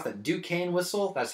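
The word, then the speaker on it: Duquesne: the whole thing because everything how do you pronounce that ducane whistle that's how it's pronounced in the front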